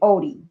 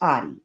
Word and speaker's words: Oddi: Some people pronounce his name Odie, but it's Audi.